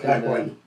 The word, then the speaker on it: Paquin: These actors and actresses are Halle Berry, Ian McKellen, Patrick Stewart, Ellen Page, and I'm not sure how to pronounce this. Paquin.